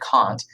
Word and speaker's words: Kant: have it titled there, his last name is spelled with a K, like up there at the title, Kant, but it said Kant. So a way to remember it is, why can't we all agree?